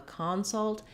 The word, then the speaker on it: consult: In that case, the vowel changes and we have a clear ah vowel in the first syllable. That's because the first syllable is stressed. So this is also a typical pattern of English where in nouns we often stress the first syllable, and in verbs we often stress the second syllable, particularly in a word